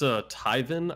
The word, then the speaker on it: Taiven: Oh, it's Tyven. I think they spell it Tyven.